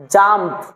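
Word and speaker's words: jump: যেমন জে ইউ এম পি কি হবে বলেন জাম্প তো জে ইউ এম পি জাম্প পি ইউ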